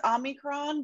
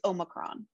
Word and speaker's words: Omicron: Yeah, I believe the correct Greek pronunciation, and I'm not Greek, so don't take my word for this entirely, is Omicron, but an acceptable is Omicron.